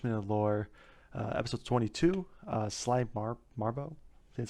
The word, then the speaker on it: Sly Marbo: We have 5 minute lore, episode 22, Sly Marbo, that's how you say it.